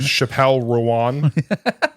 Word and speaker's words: Chappell Roan: Not Chappell Roan. Chappell Rowan.